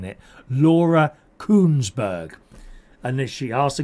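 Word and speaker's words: Kuenssberg: It can easily be mispronounced with a T in it. Laura Kunberg.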